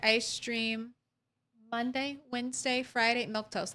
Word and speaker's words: Milquetoast: stream Monday Wednesday Friday milk toast that's how you say my name it's easy it's easy